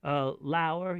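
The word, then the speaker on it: lour: Okay, lower. You'll hear me say lower. It's just another old way of saying lower as a verb. It rhymes with hour.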